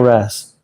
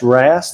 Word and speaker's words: wrasse: So you could get it like there he is, over there with the blue cleaner wrasse.